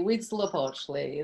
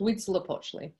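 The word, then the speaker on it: Huitzilopochtli: the other dedicated to and you guess read syllable II we'd slope Ashly that's correct we'd slip Ashly um flanking the temple of my yard are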